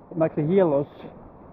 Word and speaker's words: Makrigialos: Let's see what they have here in this small village of Makrigyalos. Actually, it's pronounced Makrigyalos in Greek.